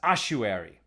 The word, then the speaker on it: ossuary: thank you joseph says i think ossuary is pronounced ossuary thank you so there we